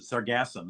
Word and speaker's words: sargassum: uh that's quite interesting i look up how to pronounce the sargassum the emphasis goes in the middle of it yeah but it's yeah